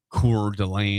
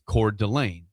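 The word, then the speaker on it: Coeur d'Alene: There's nothing that's it's not core delay. It's core Delane.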